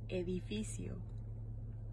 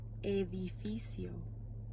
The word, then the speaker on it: edificio: Building se dice edificio. ¿Cómo? Edificio.